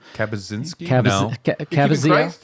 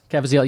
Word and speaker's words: Caviezel: Kabazinski? Cavaziel. Yeah, I'm keeping him. Oh, But okay. Caviezel.